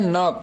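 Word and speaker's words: knock: तो यहाँ पर हम के को साइलेंट कर देते हैं, बाकी जो वर्ड बचता है नॉक, उसी को बोलते हैं नॉक मीन्स खटखटाना।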